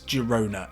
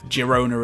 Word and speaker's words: Girona: The Catalans, they like their G's, they like their hard G's, and I'm with them there. That's the way it should be pronounced. Girona it is.